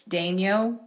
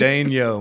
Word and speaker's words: Daigneault: How you say it is literally 2 syllables, but how Yeah. it's like spelt is 10. Like it's a journey. Yeah, it is. But it's a journey. Daigneault, man.